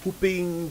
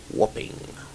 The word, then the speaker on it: whopping: And of course, they are pronounced differently. Whopping and whooping. That is how you say it right. The number of times you hear, newsreaders say a whooping 3 million cedis. Whopping. Whopping is what we're trying to say.